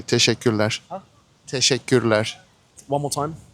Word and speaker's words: teşekkürler: You can say teşekkürler. Huh? Teşekkürler. One more time. Teşekkürler. Teşekkürler. Teşekkürler. Teşekkürler. Teşekkürler. Teşekkürler.